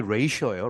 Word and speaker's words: ratio: Considering 뭘 그 고려하고 있는 their future jobs를 고려하고 있는 학생들의 눈에는 자, the competition ratio 발음이 ratio예요.